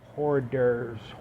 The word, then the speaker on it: hors d'oeuvres: Hors d'oeuvres, horse divers. It's hors d'oeuvres, but it just looks weird.